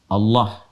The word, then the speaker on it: Allah: Aa lagi Kemudian ha dibacanya tetap mengembalikan kepada diksi aslinya tulisan aslinya dalam bahasa Arab yaitu Allah ya Allah dan sudah kalau bentuknya